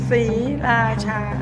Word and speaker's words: Sriracha: Three very distinct syllables. Sriracha. I just love that bold flavor.